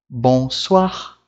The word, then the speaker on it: bonsoir: E aqui a gente vai ler como wa, ok? A pronúncia aqui vai ter o som de wa. Como, por exemplo, moi, bonsoir, moi, bonsoir.